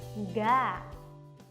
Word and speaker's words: enggak: 种写法，但是不管怎么写，它的读音都一样 enggak。